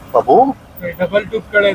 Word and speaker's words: Pabbi: And I'm saying Babi. Generally in the Pashto pronunciation, we call it Babu.